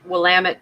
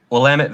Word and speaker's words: Willamette: heart of uh will willamette how do you pronounce willamette willamette valley willamette valley and oregon with three fires all being